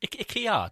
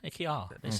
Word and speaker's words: IKEA: IKEA do them. IKEA.